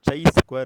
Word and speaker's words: chi-square: last concept in this Chi square distribution so tray square distribution means CH I so a square distribution means it is given as CH I either pronounciation chi-square okay a square distribution so